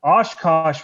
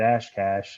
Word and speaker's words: Oshkosh: I didn't get Oshkosh right until like 4 months of living. I kept calling it Ashcash.